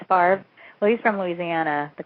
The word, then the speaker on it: Favre: There's, how there's Brett Favre, which is spelled Favre, which I love. Yeah. It's Favre.